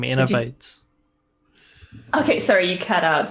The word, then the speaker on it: Innovatez: not interesting and like i never knew how i would pronounce it until like actually like when i started like getting into twitch and i watched a streamer pronounce it innovates and said that that was a cool name i was like okay i guess that's how we'll pronounce it now so that's that's that